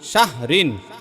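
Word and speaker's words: شهر: আলফি আলফি আলফি শাহরিন শাহর উচ্চারণটা হবে শাহ ঋণ হইলো মূল আলফি শাহ শাহর শাহর এরকম হবে শাহর শাহর ঠিক আছে হালকা লাস্টে র এর উচ্চারণ হবে হ্যাঁ এরপর কি লেখবো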